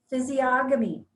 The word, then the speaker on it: physiognomy: Physiognomy.